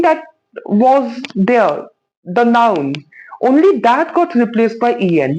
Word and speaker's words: en: En pronounced as on.